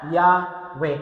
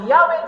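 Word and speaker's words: Yahweh: pinakamasakit y hw Anong basa raw diyan yahwe kasi nilagyan nila ng mga vowels kasi hindi raw nila binibigkas yan diyan din yung pangalan na Jehovah yun din yun eh nilagyan nila ng bower so yahwe Jehova iisa Hindi lang nila ginamit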